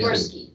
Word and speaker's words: Gorski: Gorski. That's it. G-O-R-S-G-R-O-S-K-I. Spell that slow.